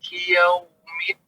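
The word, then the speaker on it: يوم: Waw sukun sebelumnya fathah. Ya, lembut ya. Yau, bukan yau. Yau. Ya, dihaluskan Pak. Pelajaran kita hari ini ya Pak ya. Baik, Malik Yaumiddin.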